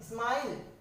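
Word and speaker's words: smile: क्या पढ़ रहे हैं, स्माइल, ठीक है, मतलब ई का कोई साउंड नहीं है, यहाँ पर ई की कोई ध्वनि ही नहीं है, ई साइलेंट है।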